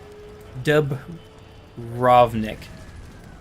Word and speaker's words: Dubrovnik: Dubrovnik. That's how it's pronounced.